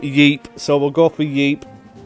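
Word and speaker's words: Ypres: fire said to me why press oh that's what I just called it before it's pronounced more like Yip for future reference Okay so I wasn't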